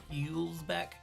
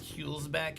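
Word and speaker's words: Hülsbeck: Does anyone know who Chris Hulsbeck? How do you say that when there's an umlaut over it? Hulsbeck.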